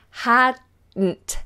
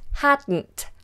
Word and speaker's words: hadn't: not hadn't hadn't hadn't the D and the N become the same sound hadn't hadn't hadn't so the tongue just goes up the once and then comes down for the tea hadn't hadn't I had